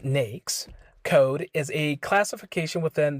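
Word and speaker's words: NAICS: what is nakes code a NES pronounced nakes code is a classification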